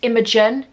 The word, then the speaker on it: Imogen: couldn't say my name used to come around and say age and my parents be like it's Imogen ate a roast dinner once